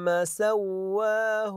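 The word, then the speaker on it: سَوَّاهُ: ننبه نطق بعض الكلمات هذه الكلمه لاحظوا فيها الف صغيره اقراها سواه سواه سواه ونفخ سواه لاحظوا الالف الصغيره بعد الواو اتي بها سواى هذا المد الذي هو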